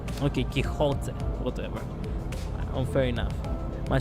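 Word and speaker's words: Quixote: By the way, Pixote is pronounced Kote. Okay. Kiote.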